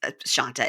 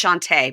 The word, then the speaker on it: Shanta: and Shanta really needs Shanta it's Shante but it's spelled Shanta Shante needs to step